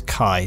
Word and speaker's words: Caius: Caius is Kai, now that I've figured out how to correctly pronounce his name.